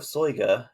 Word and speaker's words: Soyga: So the first book we're going to talk about is the Book of Soyga. The Book of Soyga, and yes, that is pronunciation.